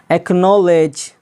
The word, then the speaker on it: acknowledge: से कोई एक लेटर हो तो सी हमेशा साइलेंट रहता है। जैसे एक्नॉलेज, यहाँ पर देखिएगा, गौर कीजिए, ACKNOWLEDGE, यानी सी